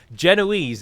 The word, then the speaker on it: Genoese: being a language snob genoese is how everyone in the english in the anglosphere would pronounce it but in italian you